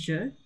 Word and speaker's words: je: Okay, so the first one is je under the French side, and then I, so the letter I, this is I in sign language, on the English side.